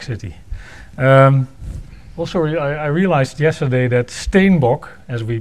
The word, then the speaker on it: Steenbock: I realized yesterday that Steenbock, as we pronounce his name, is actually a Dutch word, or maybe Afrikaans, and it means Capricorn.